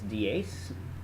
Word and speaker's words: dies: So the nominative is dies, and then and it's actually a long E there, should be. And then the plural is exactly like the singular.